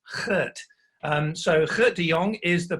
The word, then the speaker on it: Kurt: pronunciation by the way it's not to Gert it's Kurt so Kurt DeYoung is